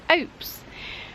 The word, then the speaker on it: ope: Other people who've lived in Falmouth all their lives maintain it should rhyme with hope.